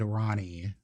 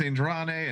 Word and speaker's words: Andrani: said texan accent and ronnie uh so you know it's that for us ah that is not the best way of pronouncing my name so my name is andrani and i'm from amarillo